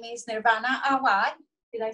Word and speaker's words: Awad: Her name is Nirvana Awad.